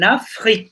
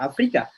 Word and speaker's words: Afrique: Je vais, ok, pour les vacances, nous allons, ok, en Afrique, bacanya. En Afrique, c'est pas Afrika.